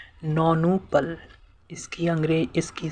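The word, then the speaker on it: nonuple: नौनू पल। इसकी अंग्रे इसकी स्पेलिंग है एन ओ एन यू पी एल ई नोनपल।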